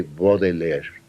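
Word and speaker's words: Baudelaire: padre y mi tío se dice bodeller y hubo un tío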